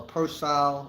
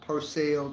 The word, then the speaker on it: Pearsall: in person Texas and that's spelled p-e-a-r-s-a-l-l uh Purcell or Purcell Texas uh out there in